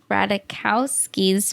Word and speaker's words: Ratajkowski: radakowski's book oh yeah we did find out that you can say her name both ways and then the Rana casca is the Polish way but she still says it radakowski so yeah we were saying it right from the other episode